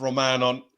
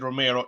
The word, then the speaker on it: Romano: bad on the pronunciation i said romero it is romano question you see in